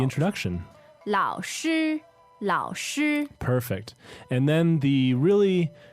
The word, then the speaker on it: 老师: So I think we should just do a quick preview of the word 老师. 老师. Okay, so this is L-A-O third tone, S-H-I first tone, and it means teacher.